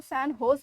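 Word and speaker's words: San José: action सक्सीडेंस हुआ और सैन जोस नाम था यूनिवर्सिटी को जिसको सैन होस प्रोनाउंस करते हैं वहां पे इनका स्ट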